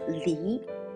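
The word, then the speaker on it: 梨: one is peer right peer in mandarin is pronounced as li which means separate in chinese so peer equals to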